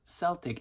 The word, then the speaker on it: Celtic: get online and find out that the correct pronunciation for the word Celtic is actually Celtic.